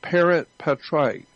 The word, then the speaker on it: parens patriae: I don't know exactly how to spell it, but it's pronounced Parent Patriae. It's an actual federal law, Parent Patriae.